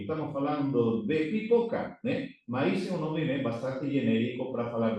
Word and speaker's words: maíz: maíz un bastante genérico para falar de milio aquí a palabra maíz que no vogado fechada mayor intensidad de voz na boga fechada cuando decimos que fue